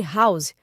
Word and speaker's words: house: No caso de house, o H é pronunciado como uma consoante, com o som H, o que nos leva a usar a house.